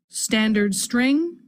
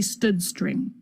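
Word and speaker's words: std::string: is STD colon colon string which is generally pronounced standard string or some people might say stood string we're using the string class from that standard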